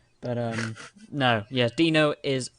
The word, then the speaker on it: Dino: but nah it's f but um no yes dino is pronounced as d-i-n-o yeah um so i want